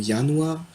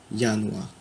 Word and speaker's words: Januar: Par exemple, le mot Januar, qui signifie janvier, il commence par un J, ça se prononce Y. Januar.